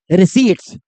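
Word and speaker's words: receipts: Next term है हमारा रिसीट्स। ठीक है? इसमें जो हमारा पी साइलेंट है। रिसीट्स बोलते हैं इसे।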